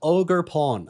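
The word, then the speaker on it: Ogerpon: they're right at the very back there called ogre Pawn I don't know how this is spelled but that's how it's pronounced as they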